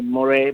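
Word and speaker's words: Moré: say one of the classics of course Benny Moray Benny Morris is spelled Benny m-o-r-e last name and and probably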